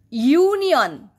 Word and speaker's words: union: But in this case you see union, ya. It is taking the sound of Y.